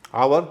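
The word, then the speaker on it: hour: ऑनर, योर ऑनर, spelling में एच है, बोलेंगे ऑनर। ऑनर नहीं बोलते हैं। आवर, जो घंटे को कहते हैं, आवर।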